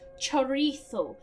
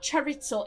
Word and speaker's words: chorizo: Now, girls, when you go to Spain, remember, it's pronounced chorizo, not charitzo. If you say charitzo, you'll sound like a foreigner.